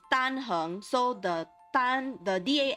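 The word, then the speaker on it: Dan Heng: Yes, it's tanhung. So the tan, the da n is flat sounding. The hung is you have to make your voice go upward.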